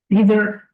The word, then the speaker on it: neither: Neither. Remember, this is word sometimes can be pronounced as neither and neither. British and America don't care, but both of them accepted.